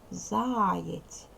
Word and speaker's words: заєць: 2 Склади 2 склади ставимо наголос заєць наголошений перший склад перший склад перший склад тут наголошений